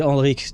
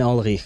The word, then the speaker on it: Ulrich: Okay, and like Ulrich too, right? It's well, see, I mispronounced it there. It's not supposed to be a k sound. It's a h, right? And Ulrich.